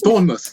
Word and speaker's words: Bournemouth: cannot even say that I was there twice Bournemouth yes Bournemouth that that's a seaside yeah Bournemouth